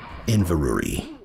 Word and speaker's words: Inverurie: do that in the meantime the way to Inverrary is clear I look that up on Wikipedia and according to the international phonetic alphabet it is pronounced Inverrary yeah that should have said